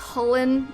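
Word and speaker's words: Chulainn: Chilean is actually pronounced Hullen. It's Gaelic.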